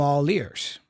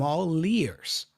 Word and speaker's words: all ears: I am connecting the L sound for all, right, with the ears, the vowel. So, I'm all leers.